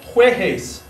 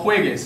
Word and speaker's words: juegues: So, for instance, we had no juegues is a G-A-R verb. We have to add a U in there to make that hard G sound happen.